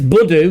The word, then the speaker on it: Budu: He says it's Budu, got that bit right.